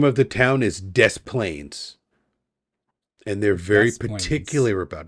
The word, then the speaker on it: Des Plaines: The name of the town is Des Plaines. And they're very particular about it. Des Plaines. All right. I won't mispronounce it.